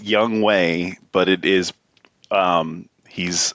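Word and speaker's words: Younghoe: got traded midseason so his his name is pronounced young way but it is um he's I think it's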